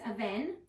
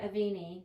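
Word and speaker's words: Avène: So it's spelled A V E N E. A lot of people call it Aini but it's it's French. I feel like I have said Aini. It's French darling.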